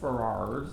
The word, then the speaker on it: Ferrars: Now the interesting thing, it's spelled Ferrars, but they say Ferrars.